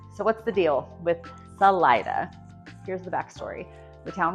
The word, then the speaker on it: Salida: Salida, and it stuck forever, until now at least. So that's the official local pronunciation, and it's not correct in Spanish, but it's what we use here.